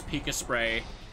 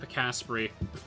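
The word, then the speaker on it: Pikaspray: to pronounce it, and his chat was trying to tell him otherwise, to the point where he had to get me on mic there again to say, no, it's pronounced Picaspri.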